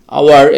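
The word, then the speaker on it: hour: পরবর্তী শব্দটি হচ্ছে আওয়ার, যেটা আমরা আওয়ার, এখানে এইচের উচ্চারণটা হচ্ছে না, হাওয়ার হচ্ছে না, বাট এখানে ওর উচ্চারণটা, মানে এইচের উচ্চারণটা এখানে বাদ পড়তেছে, জাস্ট আওয়ার, আমরা ও ইউ আর, আওয়ার, এতটুকুর উচ্চারণটা হচ্ছে।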